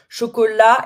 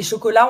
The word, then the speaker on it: chocolat: Chocolat, et chocolat, on ne prononce pas le T, hein. Silent T at the end, so chocolat.